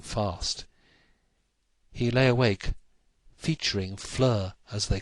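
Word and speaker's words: Fleur: Flur. It rhyme with her.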